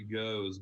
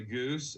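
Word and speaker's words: Gose: The goose is actually goes, by the way. It'll help you out. The who? The goose. It's not goose. It's goes. Goes.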